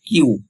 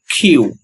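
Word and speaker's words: Q: বর্ণটি রয়েছে তা হচ্ছে আমরা সবাই বলি কিউ কিউ বাট এর সঠিক উচ্চারণ কিউ হবে না এর সঠিক উচ্চারণ হবে খিউ খিউ এর সঠিক উচ্চারণ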